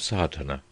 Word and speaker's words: Sadhana: about the pronouncing of sadhana the accent falls decisively on the first a which has the broad sound of the letter chapter one the relation